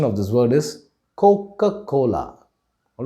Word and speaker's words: Coca-Cola: brand by sight it is coca-cola we sometimes pronounce it as coca-cola but the right pronunciation of this word is coca-cola all right the next brand name that we